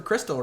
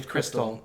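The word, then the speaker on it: Xtal: CX is sometimes short for crystal, right? Oh yeah. You're right. Or just X. Yeah, You know the any, Aphex Twin song, X Tall, is actually pronounced yeah, crystal.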